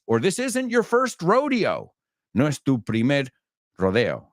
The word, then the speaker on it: Rodeo Drive: say at his second Rodeo careful laaya in Beverly Hills Rodeo it's Rodeo Drive but you want to go to the rodeo very same word different pronunciation so what did the